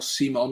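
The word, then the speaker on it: Simón: All the way back to Unai Simon, or Simon, as someone told me to pronounce it earlier.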